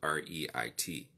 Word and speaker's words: REIT: the acronym is is spelled r-e-i-t but it's pronounced Reit never knew that never